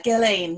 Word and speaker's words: Gellein: And this is Gellein. Is that how you pronounce it? And you have to unmute yourself. Yeah, Gellein, yeah. Gellein, Very okay. close. It's Norwegian.